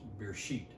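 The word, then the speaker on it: בְּרֵאשִׁית: out the year so the word is actually pronounced beer sheet in hebrew that word beer sheet that's in hebrew in english you can translate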